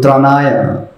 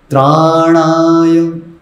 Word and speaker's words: त्राणाय: ज़्यादा ही सुना होगा, तो त्रनाय त्रनाय, तो त्र और न कर दिया उसको त्रनाय, तो वो भी उसमें त्रुटि है।